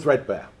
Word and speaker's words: 3DBARE: of all it's uh it's called threadbear um well that's how we pronounce it and I'm going to